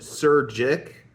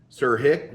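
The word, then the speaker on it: Surjik: The director is Stephen Sir Jick, Sir Hick, whatever it is. Jay is silent.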